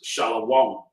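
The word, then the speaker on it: שלום: So the wa, right? The wa is not pronounced. Shalom is how they would say it.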